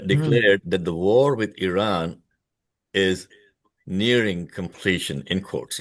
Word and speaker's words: Iran: He says Iran's military has been devastated. Uh by the way, folks, it is pronounced as Iran, not Iran.